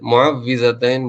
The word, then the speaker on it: معوذتین: والی ہے، اسی لیے اس کا صحیح تلفظ واو کے زیر کے ساتھ ہے، معوذتین بولتے ہیں اس کو۔ پہلے ترجمہ سن لیں،